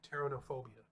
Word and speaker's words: pteronophobia: Actually, the P is silent. It's like pterodactyl. Pteronophobia.